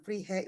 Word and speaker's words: Vrije: Mbak Anis ini dari ISKI Sunan Pandanaran eh Freehe Universitet gitu bacanya ya. Bahasa Belanda bacanya freak. Bacanya fre. Oke. Oke. Fre universitet gitu ya, Amsterdam.